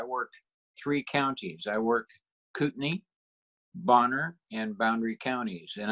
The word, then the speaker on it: Kootenai: today Pindar I'll actually teach you how to pronounce these range names like in Kootenai County it's people call that kutenai or something ordered I yeah but it's actually Kootenai didn't there's Bragg here an Indian tribe called